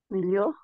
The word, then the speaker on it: meilleurs: meilleurs. Oui, on prononce de la même façon, meilleur, meilleur, meilleur, meilleur, toujours meilleur. En effet, avec le S à la fin, n'est-ce pas?